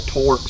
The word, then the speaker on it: Torx: If you've got one of the newer model pickups, it takes the star-shaped screwdriver, which is called a Torx.